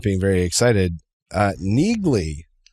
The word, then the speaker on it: Neagley: Uh talk speaking of nerds and not being very excited, uh Neagley I think it's Neely is are they silent G maybe?